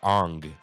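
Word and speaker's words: Aang: Yeah, we got to pronounce it like M. Night Shyamalan does the Avatar, Ong.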